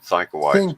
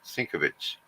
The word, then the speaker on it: Sienkiewicz: I always said Sienkiewicz, but I know it's Sienkiewicz. not right. Sinkovitz.